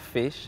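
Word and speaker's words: fixe: started to laugh and it is pronounced fish like f-i-x-e and what it actually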